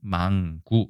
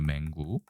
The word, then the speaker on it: 맹구: 그런데 이것도 사각적인 망구 이렇게 얘기합니다. 망이 아닙니다. 맹구죠, 맹구. 네, 그렇죠? 소경 맹자니까요. 눈이 안 보이는 거죠.